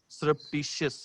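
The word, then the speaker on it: surreptitious: नहीं, सुपरस्टिशियस नहीं है, ध्यान से स्पेलिंग देखें, सरप्टिशियस है, सरप्टिशियस जी।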